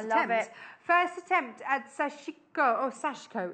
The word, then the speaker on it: Sashiko: First attempt at Sashiko. Oh, Sashiko. It's no I in it. You don't pronounce the Sashiko.